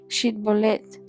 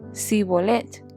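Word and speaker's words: Shibolet: Ellos le pedían que pronunciara la palabra shitbolet. Si era de Efraín, diría si bolet. Porque a la gente de Efraín le cuesta pronunciar bien esa palabra.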